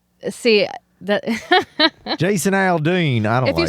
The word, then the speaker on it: Aldean: too much of an accent see that Jason Aldean I don't know if you say it like that it's actually a slur it's uh it's not Aldine either way he released a song called try